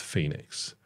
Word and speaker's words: Fenix: to this is phix it's it's spelled phex pronounced Phoenix Right which is handy because if it was